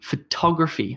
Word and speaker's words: photography: number one would be photography photography photography and you can hear that I'm emphasizing the top top top photography photography photography